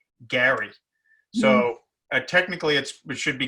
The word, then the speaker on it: Gerry: for whatever reason elbridge jerry the guy that gerrymandering is named after you were supposed to pronounce it they did pronounce his name in those days gary so technically it should